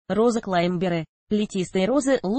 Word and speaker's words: клаймбер: Обратите внимание, иногда вместо «клаймбер» говорят «климбер». Речь идет об одной и той же группе роз, однако «климбер» не совсем правильное произношение, но среди садоводов оно уже довольно сильно прижилось.